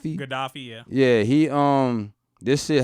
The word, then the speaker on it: Gaddafi: And they said that this started when Gaddafi, or how you say his name, Gaddafi, yeah.